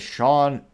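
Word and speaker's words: Shon: Someone by the name of Sean Phillips. But it's spelled S-H-O-N.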